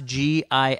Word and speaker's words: GIF: How do you pronounce GIF?